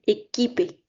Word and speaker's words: équipé: Pronunciation tip, whenever you have QU, replace it with a K in your head. Équipé.